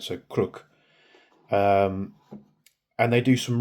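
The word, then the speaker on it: Крук: But the real the way that you actually pronounce it is crook. Uh I hope I'm pronouncing that right. So sounds like crook, but they put a bit of an accent on it.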